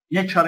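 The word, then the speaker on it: nature: نيتشر يعني طبيعة.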